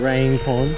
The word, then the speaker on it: Range Pond: This is Rang Pond. When we graduated 8th grade, they took us here for a day. This is called Range Pond. No, Rang. Rain. It's spelled like range though. But Rain Pond?